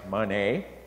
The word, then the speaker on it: Mahoney: Thursday is John Fleming's birthday, and he's just a young buck, because on Tuesday, Audrey Manet, it's spelt Mahoney, but it's pronounced Manet, turns 101 years old.